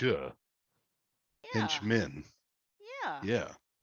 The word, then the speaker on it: Hentchman: TCH is pronounced ch. Yeah. Henchman. Yeah. Yeah. Henchman.